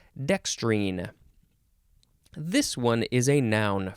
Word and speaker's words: dextrine: r i n or you could put an e at the end and that is when you would pronounce it dextrine this one is a